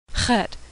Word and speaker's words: Het: as in zebra Zion Hut is pronounced a throat-clearing noise that doesn't occur in English it's like in a in German or luck in Scottish Tet Tet is pronounced